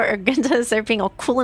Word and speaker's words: Argenta: Argenta, that's how it's pronounced.